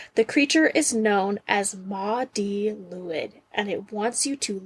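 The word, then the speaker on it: Mari Lwyd: And Maudie Lewid is how you pronounce this one.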